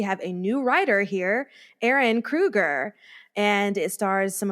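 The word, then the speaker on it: Ehren: a new writer here Aaron Krueger and it stars some of our Freddy's brother exactly that's what I said well it's spelled in a very fancy way e-h-r-e-n I've never seen Aaron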